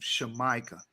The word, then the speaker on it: Jamaica: not supposed to be pronounced jamaican that's a mispronunciation of the original land name shamika that's how you're supposed to say it i